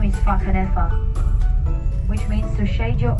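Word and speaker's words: Whakanewha: but it's not pronounced wakanowa because in maori the wh is pronounced just like the f sound in english another cool fact about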